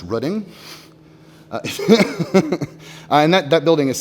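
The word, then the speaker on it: Rødding: Reform movement sorry uh this one's in it's pronounced rudding and that that building is still there it's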